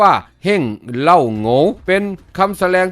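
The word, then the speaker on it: 王老五: เหล่า อู่ วง เล็บ จีน แต้ จิ๋ว เรียก ออก เสียง ว่า เฮ้ง เล่า โหง เป็น คำ แสดง ที่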